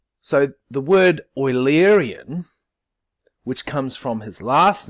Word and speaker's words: Eulerian: it oil up and think of the stuff that you put in your car so the word oily Aryan which comes from his last name is pronounced as I'm saying it or el-erian like the stuff you